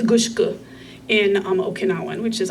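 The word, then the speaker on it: gusuku: our next discussion uh gushu is usually pronounced gusu in actual Japanese um and they're the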